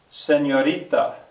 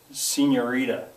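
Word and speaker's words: señorita: it well and uh I'll hear some kid out there say I hate to do this but seniorita and I'll say no that's not what I said I said senorita and usually they would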